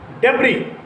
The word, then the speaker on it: debris: Another word is debris, D-B-R-I-S, debris. Debris means ruins, the scattered ruins, debris. So, what is the spelling of debris? D-B-R-I-S, and S remains unaccented, inarticulated, and unpronounced.